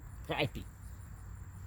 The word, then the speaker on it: crappie: And that is spelled correctly. I looked it up. Crappie.